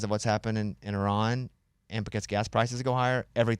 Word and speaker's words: Iran: It's so interesting you say Iran and I say Iran. I used to say that too until I heard people I know it's that says this is a proper way to say it, but I said Iran, too. Probably until six months ago even. I say iron.